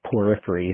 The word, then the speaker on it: Poorfree: It's called Poorfree. It's Poryphry. So the rock that it is a geological term. So Poorfree, it kind of rolls off the tongue the other way.